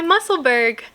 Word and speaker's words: Musselburgh: Alright, this is my Musselburgh hat. Musselburgh. Look, I'm not from the East Coast. I don't say Musselburgh, Musselburgh. It's spelled U-R-G-H. So it's like Musselburgh, like Pittsburgh.